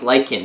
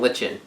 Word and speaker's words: Lycan: Okay, someone pointed out the pronunciation of all of our characters on a lot of things, like Lycan, which I knew, but I kept saying Lichen.